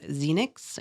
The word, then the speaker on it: Zeinix: She signs her work with the name Zenix. It's spelled Zeinix.